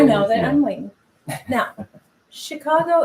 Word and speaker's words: Chicago: that i'm winning now chicago is sort of ch but you pronounce it like sh upstate new york what